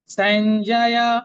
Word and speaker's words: সঞ্জয়: দন্তস্বরের পরে কি আছে? দুটো অক্ষর আছে, ইয় এবং বর্গীয় জ। ইয়টা অর্ধেক, বর্গীয় জটা পূর্ণ, তাহলে সঞ্জয়। সঞ্জয়, শেষের ইয়টা কিন্তু পূর্ণ, সঞ্জয় বলবো না, সঞ্জয়।